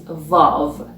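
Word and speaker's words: واو: The 30th letter is vav, which is pronounced v, like van in English.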